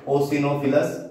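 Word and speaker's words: eosinophils: First है इसमें बेसोफिलस, फिर है ओसिनोफिलस, ई साइलेंट है इसमें न्यूट्रोफिलस।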